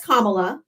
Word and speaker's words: Kamala: It's my opinion that he was still the better auction than Kamala Harris. No. And her name is Kamla. If you can't say her name properly, say Harris.